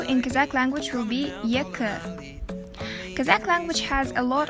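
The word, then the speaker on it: екі: So the second is two, and two in Kazakh language will be yekı.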